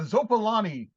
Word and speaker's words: Zopalani: So Mike is now going to say it, and this is the official pronunciation for the 4-armed bucktooth lizard guy on the front cover. Sure, that's a Zopalani regener.